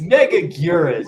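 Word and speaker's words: Megaguirus: Mega Gurus. Get it right. Fake fan. Oh, I'll pronounce it how I want to. I don't care. It's Megaguras.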